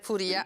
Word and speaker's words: Furia: Gabriele Furia Furia medicale Come si pronuncia correttamente è Furia hanno aperto la centrale